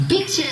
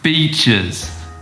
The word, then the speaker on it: beaches: Oh, me and my friends are going to check out some bitches. Huh? Pronunciation panda wanted to say beaches, not bitches.